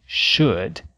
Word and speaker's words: should: mudo vamos lembrar que nas palavras would could e should a letra L também não é pronunciada What up What up